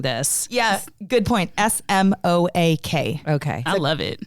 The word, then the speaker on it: Smoak: And it's not spelled like smoke, like typical. So if you're Googling this. Yeah, good point. SMOAK.